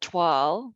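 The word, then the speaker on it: toile: textiles is the if it's clothing is it twirl which is spelled t-o-i-l-s some people think it's 12 but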